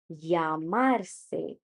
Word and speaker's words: llamarse: doble ele double L llamarse llamarse So, there are two ways of pronouncing doble ele, although there are many, but two main ones is either we say it as yo or jo.